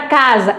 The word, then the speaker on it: casa: O mesmo fonema pode ser figurado por letras diferentes, exatamente como a gente falou logo no início, a palavra casa é com S, mas o som é Z.